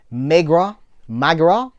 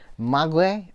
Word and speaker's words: Maigret: This is Maigret. See, with the French pronunciations.